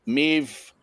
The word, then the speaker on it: Maeve: Maeve, hey. Not seen Maeve in a few weeks because we've not been on. But, good to see you, Maeve. That rhymes with Dave.